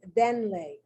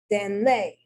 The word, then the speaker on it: denle: Correct pronunciation is denle, which means like ustedes, give it to him. Incorrectly, denle, denle, denle.